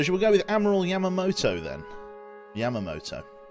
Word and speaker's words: Yamamoto: Also, you're missing a syllable in Yamamoto. Oh, Yamamoto, am I? Yeah, it is Yamamoto, not Yamato. So Admiral Yamamoto, even. Yeah, it's not Yamato, is it? It's Yamamoto.